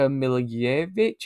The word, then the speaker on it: Milivojevic: It's Luca Milivojevic, I think is how you say it, the Crystal Palace midfielder who is at this point just set pieces.